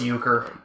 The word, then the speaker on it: euchre: Factory oh yeah absolutely pry pronunciation oh it's uker oh is that a card game yes it's a card game tell us about ukar uh it's big in